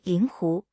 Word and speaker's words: 令狐: 复姓灵狐的正确读音应为灵狐，但在日常运用中，灵常被读作 4 声，使得这一姓氏的原始发音逐渐被遗忘。